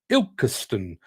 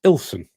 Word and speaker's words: Ilkeston: Jim Turner says it's actually pronounced Ilkeston, but if you're local, it's Ilson.